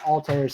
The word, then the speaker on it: Altair: Yeah, they say it's pronounced Altair.